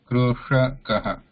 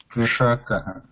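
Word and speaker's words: कृषकः: Is that a talusha? No, the murdhanya. Sha. Ksha. Sha. Krushakaha. Krishakaha.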